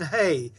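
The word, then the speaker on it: ה: So see, we call the letter a hay, we call it an H, but the sound for both of them is a like in hay, hay.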